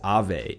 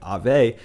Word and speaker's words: Aave: And that being said, that project that I want to talk about today is Aave, A-A-V-E. I think that's the way people pronounce it.